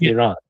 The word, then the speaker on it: Iran: It's pronounced Iran.